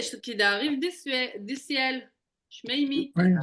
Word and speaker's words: שמימי: Shmeimi. Oui. C'est juste la prononciation que je te répète. Shmeimi. Shmimi. Voilà. Comme ça.